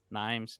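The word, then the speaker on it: Nîmes: No, Nimes.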